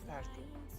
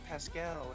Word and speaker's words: Paschal: in high school, and his name was Mr. Paschal, right? Mhm. And he told everyone that's how to pronounce it, not in a mean way, just, you know, my name is Mr. Paschal. And then there's this one girl, I guess she forgot, and she goes, Mr. Pascal, and I'm like, what the fuck?